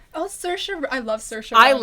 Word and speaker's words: Saoirse: he's like the male version of that one chick, whose name is really hard to pronounce, Swarsay. Oh, Saoirse.